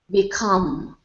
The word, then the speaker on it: become: Become. Right. So the stress is on the second syllable in the second word.